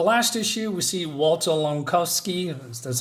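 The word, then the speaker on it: Langkowski: so in the last issue we see Walter lovsky that's how you say it transformed into the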